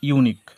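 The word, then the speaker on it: unique: এখানে এই ওয়ার্ডটার সাউন্ড হচ্ছে ইউনিক। তো যখনই আমরা ইউনিক ওয়ার্ডটাকে উচ্চারণ করি তখনই আমরা একটা শুরুতে একটা সাউন্ড শুনতে পাই সেটা হচ্ছে ইউ। আর ইউ বানান আমরা সবাই জানি ইউ বানান ওয়াই ও ইউ।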